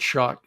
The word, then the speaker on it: Schoch: As far as Robert Schoch is how you say that.